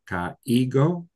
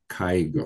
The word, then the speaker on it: caigo: Yeah, Is so if this had an accent on it, ka ego, we would say it like that. But this does not have an accent, so those vowels become I, kai, like an AY sound.